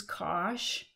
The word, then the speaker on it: cosh: need to know the definition of cinch and kosh and that's how you pronounce these two functions this is kosh and this is cinch and the other hyperbolic